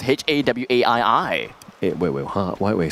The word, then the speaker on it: Hawaii: para sounds way better then how would you pronounce h-a-w-a-i-i it wait wait why wait slow down w-a-i-i you know howie wait really h-a-w-a-i-i a-i-i hawaii right yeah i